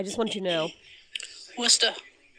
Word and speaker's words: Worcester: So very conveniently, I got really lucky in life, and I just want you to know, Worcester is the correct pronunciation of that.